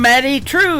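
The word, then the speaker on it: Madye Trew: That is a brand new single from Maddie True. It is M A D Y E on her first name and True is spelled T R E W.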